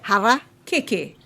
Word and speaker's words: harakeke: Hara. Keke.